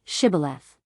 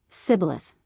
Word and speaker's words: Shibboleth: If he said, "No," then they would say to him, "Then say, "Shibboleth'!" And he would say, "Sibboleth," for he could not pronounce it right.